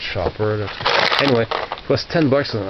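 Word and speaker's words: Schaper: Apparently it's pronounced Shopper.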